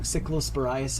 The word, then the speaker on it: cyclosporiasis: I always get the name wrong. Cyclosporiasis.